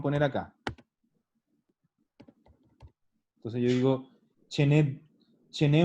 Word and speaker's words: ce n'è: Ah, Y se pronuncia cargando en la segunda E, chené.